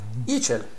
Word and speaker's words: ICEL: Okay doc, so the pronunciation of ICEL is in the Italian way. Just read how it's written. ICEL, it is the acronym of Industria Componenti Elettronici, which means Electronic Components Industry.